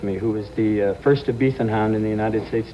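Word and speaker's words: Ibizan: Ibethan hounds? Yeah. My favorite dog. What's an I-B-I-Z-A-N. The Z is I-B- pronounced T-H. Ibethan hounds.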